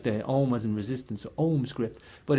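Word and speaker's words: Ogham: ohms gripped like there Alma's and resistance or ohms grip but it's English people pronounce it oh come and it basically comes from oak ma the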